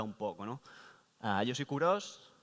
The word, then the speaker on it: Kurosh: Yo soy Kuros. Sé que Kuros es un nombre un poco particular, pero ya veis que se pronuncia literalmente como se lee, así que nadie se preocupe por eso.